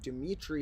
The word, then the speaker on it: Dimitri: When people hear my birth name Dimitri, they often think it's short for Demetrius, and it's turning a 3-syllable name into a 4-syllable name.